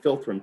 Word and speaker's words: philtrum: The word philtrum, Philitrum, is like F. You pronounce it as philtrum.